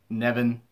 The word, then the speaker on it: Piper Niven: Nevin. I kind of screwed up. Some announcers pronounce it as Niven, or Nevin. I pronounce it as Niven, whatever.